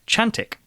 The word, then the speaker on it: Cantik: could call a bear Chantik. This is spelled Cantik, but pronounced Ch.